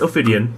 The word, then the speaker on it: Ophidian: It's Ophidian.